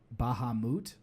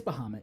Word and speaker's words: Bahamut: There's the like fancy Final Fantasy VII pronunciation, which is like Bahamut. It's yeah. But either way, it's Bahamut.